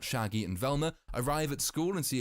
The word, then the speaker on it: Velma: This is all covered in a news report during which the reporter butchers Velma's name. Say my name. Vermin Dorkley.